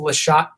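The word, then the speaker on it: Slachat: played before it's actually it's called lat Town lat like it's spelled s l a c h a t uh Town farm and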